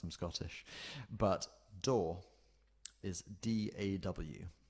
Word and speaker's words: DAW: But DAW is D-A-W. So it's kind of like SAW, which is spelled S-A-W, but it is DAW, so it's D-A-W.